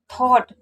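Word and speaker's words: thought: उसके बाद थॉट, देखिए टी एच को था पढ़ते हैं, ओ यू को ओ पढ़ेंगे। जी एच टी कहीं पर भी होता है तो जी एच आपका साइलेंट रहेगा, यानी कि थॉट का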